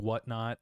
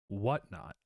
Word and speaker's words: Whatnot: games, Magic the Gathering, whatnot. And uh I'm sorry, I put the emphasis on the wrong word there. where we talk about whatn not again.